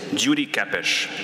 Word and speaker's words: Gyuri Kepes: I was just telling Michael out in the hallway, the proper Hungarian pronunciation of my name is Gyuri Kepes, but I'm not going to make you say that.